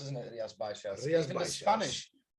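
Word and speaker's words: Rías Baixas: It's hard to pronounce, isn't it? Rias Baixas.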